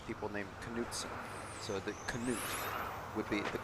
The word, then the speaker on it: Canute: So the canute would be the K would be pronounced but then I I think that's an